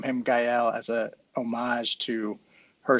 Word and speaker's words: Gael: son's name how do you spell it uh it's spelled g-a-e-l um but pronounced gael uh we we got a lot of folks who say gale but what does it mean chris so if